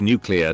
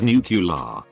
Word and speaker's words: nuclear: every single individual issue some people believe the word nuclear to be pronounced as nucular despite the lack of a u u-vowel between the c and l within the word i just shoehorned that